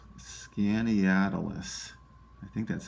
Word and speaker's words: Skaneateles: Let me see if I can pronounce this one. It's Skaneateles. I think that's how you say it. Skaneateles.